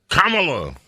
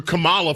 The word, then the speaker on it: Kamala: mispronounce her name it's Kamala Camala look I'm sorry I've been calling her Camala for years and and I meant no disrespect that's the way her name looks if you went to